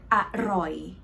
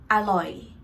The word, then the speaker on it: อร่อย: For example, the word อร่อย, right? Don't say it like อร่อย, อร่อย, like this. No, it would more sound like อร่อย, อร่อย for Thai.